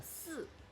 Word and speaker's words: 四: Because the pronunciation of 4 in Chinese is yeah. 四. Oh, yeah. And it sounds similar to die.